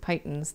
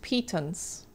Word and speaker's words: pitons: They're hammered pythons. They're hammered into the rock wall and protect the climber against falling and assist. Oh. I see. Yeah, that makes sense now. Pronounced pitons.